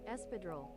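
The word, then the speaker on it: espadrille: Do you want to hear the American pronunciation or the British? We'll hear the American one. Espadril.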